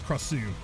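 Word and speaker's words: Krasue: I don't know like 100%, but I'm pretty certain it's Krasu. The emphasis on the second syllable.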